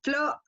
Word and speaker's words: flores: Entonces, por ejemplo, la palabra flores, ¿ya? Es flores, se marca en la O, ¿ya?